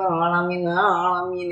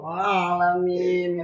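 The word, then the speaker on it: العالمين: Alhamdulillahirabbil alamin. Itu harus ada ain. Ya kan pertama aku bacanya datar tuh. Pertama Ibu bacanya masih alamin. Enggak Bu, alamin gitu kan.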